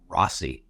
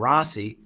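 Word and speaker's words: Rozzi: Andrew Baldwin and brand i r Oz zi I guess he pronounces it Rossi you know it's a z really anyway the judge ordered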